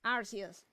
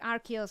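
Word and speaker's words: Arceus: It is Arius in Japanese. Is Arius and he says Arus in uh and he pronounces it as Arus too. So further pro further proof. Stop trying to make Archus happen. Archus is not going to happen.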